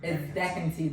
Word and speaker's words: Decanti: But it's Decanti. It's actually Decanti. That's the real pronunciation of my name.